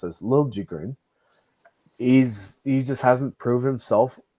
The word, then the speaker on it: Liljegren: And like he's a good skater, but he's just in the same sense of Liljegren, or sorry, as he's now pronounced as Liljegren.